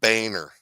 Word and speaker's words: Boehner: It is pronounced Boehner.